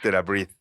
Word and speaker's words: TheraBreath: Sí, porque por la pronunciación que leí ahí es TheraBreath.